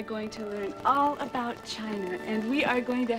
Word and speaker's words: Qin: the Great Wall of China was designed by the emperor Qin was a spur excuse me miss Seymour it is pronounced chin Thank You mr.